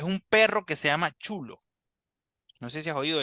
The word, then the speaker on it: xolo: comía en México sí que se llama el chulo se escribe xql o s chulo porque de hecho